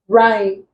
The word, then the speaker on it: rhyme: Vehicle, khaki, rhyme, hammer. Answer becomes hammer. The H is silent in these three words. It's not pronounced, but it's pronounced in the word hammer. Then here we have this.